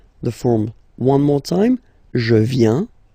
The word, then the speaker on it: viens: First form, je viens. Final S not pronounced.